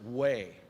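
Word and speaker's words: Wei: name christian and then his last name is w-e-i pronounced way later he was converted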